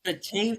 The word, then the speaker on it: Batavia: Well, what are you trying to pronounce? The yogurt? Activia? I don't know. I said "buh" in there. It's Batavia. Anyway, let's keep going.